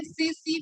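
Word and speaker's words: tsetse: Secondary host is blood sucking insect, जिसको बोलते हैं सीसी फ्लाई। सीसी फ्लाई। ठीक है, स्पेलिंग होता है टीएससी टीएससी, आ जाता है मैच द कॉलम में, और इसका साइंटिफिक नेम याद रखना, ग्लोसिना।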